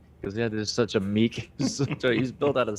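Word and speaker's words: Miek: this is me and i always thought it was he was saying mick but apparently it's meek because i was looking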